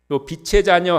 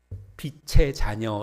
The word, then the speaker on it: 빛의 자녀: 빛의 자녀인 줄로 믿습니다 빛의 자녀 할 때 발음을 주 주의하셔야 됩니다 빛의 자녀 이렇게 해야지 빛의 자녀 그러면은 돈 빌린 사람이 된 거예요 우리가 뭐 돈이야 조금씩은